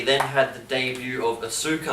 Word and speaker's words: Asuka: had the debut of Asuka or ask her as they like to call her I'll let you do